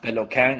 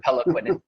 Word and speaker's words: Peloquin: The name actually is technically pronounced Peloquin. It's French-Canadian. But so I don't sound like a douchebag, I just say Peloquin. It's easier to pronounce that way.